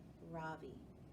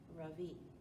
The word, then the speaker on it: Ravi: bheem I say softly my voice quivering a little my name is not Ravi it's pronounced Ravi she looks at me